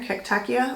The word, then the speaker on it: cactaceae: And that cactaceae, this one right here, cactaceae, like who the heck knows how to pronounce that? It's not Ia, it's A, right? A-E.